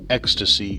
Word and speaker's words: Ekstase: at a game called ecstasy but it is spelled differently apparently it's a german spelling of the word and it is e k s t a s e ecstasy is the way you say it and oh boy it's